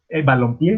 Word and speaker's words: balompié: estamos combinando, pie, eh, balompié, perdón, ya se, si se fijan, ya es una palabra aguda porque la entonación se la damos en la última sílaba y además eh, termina en vocal, ¿no?